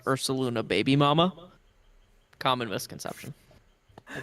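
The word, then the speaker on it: Ursaluna: make a little correction it's actually pronounced URS saluna baby mama common misconception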